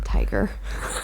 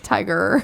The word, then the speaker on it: Tyga: Tiger. I don't pronounce the A. Tiger.